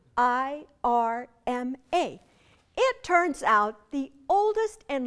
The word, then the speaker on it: Irma: letters is my name, I-R-M-A. It turns out the oldest and largest grocery store chain in that country is named Irma and pronounced like my name.